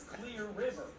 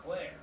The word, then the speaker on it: Clear River: Parts one and two her name was clear River not Claire I was never saying it wrong she just had a